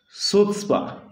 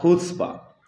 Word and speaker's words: chutzpah: हैं, उसको हम प्रोनाउंस, उसको जो लिखते हैं वो CHUTZPAH है, पढ़ते हैं उसको सुत्सपा या कुत्सपा।